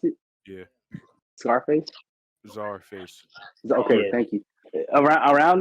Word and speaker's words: Czarface: yeah, my okay, that's how you pronounce it, Yeah. Scarface. Czarface.